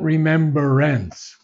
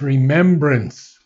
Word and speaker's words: remembrance: make a mistake on we say remember but it's not remembrance it's remembrance remembrance r-e-m-e-m-b-r-a-n-c-e there's no ER in that no remembrance remembrance good